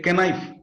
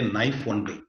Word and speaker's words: knife: write a for example knife first letter K we have to say k knife but that's wrong that K is silent they say Knife Only and c m b